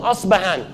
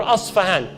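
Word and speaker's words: Isfahan: He goes to Asbahan or Asfahan. This city exists till this day. Where is it? This is clear. It's in Iran. And Asfahan or Asbahan, both ways of pronunciation, it has today the largest Jewish community outside Palestine.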